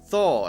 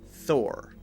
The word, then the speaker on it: Thor: very clear her her if it's Thal thaw it sounds too much like aw so it should be very clearly Thor the next one is